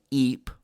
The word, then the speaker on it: Ypres: of the marn the battle of eep that's spelled ypres you just call it